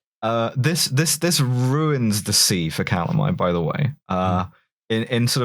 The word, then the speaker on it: Calamai: and Calamari is Calamai. I'll say his name right for this last bit.